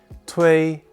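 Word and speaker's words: 推: pushing them off an edge this character is pronounced tui and means push it is used in this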